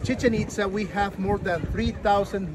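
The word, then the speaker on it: Chichén Itzá: Listen, the name has accent. Chichen Itza.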